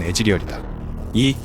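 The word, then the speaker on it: Ezreal: 콜트 한라맨 닉네임에서 따왔다 또한 이즈리얼의 원문 발음은 애즈리얼이다이 이즈리얼은 사라진 부모님을 찾기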